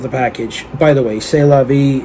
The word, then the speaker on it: C'est la vie: package by the way c'est la vie it's pronounced with the s and t being silent say lobby anyway i'm